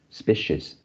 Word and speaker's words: species: actually this is species the c here it should be the the sound not the not the not the not the s sound oh yeah okay so is uh it should be species species okay microbiome diversity is